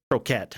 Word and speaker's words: Kroket: We've got Dobby Croquet. Yeah. Hello, Allison, Mr. Zimbu, and Viralex. Or is it Croquette? It's pronounced like the food. Croquette, I believe.